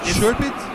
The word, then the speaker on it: Szurpit: Szurpit?